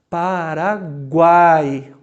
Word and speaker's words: Paraguai: Vocês observaram como é que na hora da pronúncia o A aparece mais? Por isso que ele é vogal. Paraguai. Ele é mais longo, ele é mais forte. As outras duas são mais discretas.